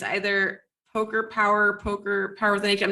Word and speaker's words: Poker Power: i think pretty sure i called it poker pow her for like six months before somebody was like no it's just poker power i was like oh